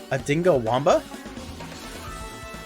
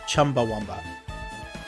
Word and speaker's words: Chumbawamba: up during the trial a dingo wamba it's it's actually pronounced Chumbawamba yeah and they had